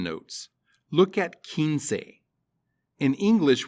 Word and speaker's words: quince: pronunciation notes look at kinsei in english we're used to q-u-i being a kui sound and spanish q-u-i is ki kinsei not quincy kinsey the number 20 is